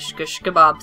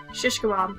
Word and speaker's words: shish kebab: I'm probably mispronouncing that how do you say that shish kebab shish kebab I was saying shsh I was I was I was putting a w in there somehow yeah you were yeah